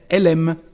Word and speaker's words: elle aime: Elle becomes the sound E, before a verb starting with a vowel or a mute H. So, elle aime, she likes, she loves. When we speak, we say elle aime.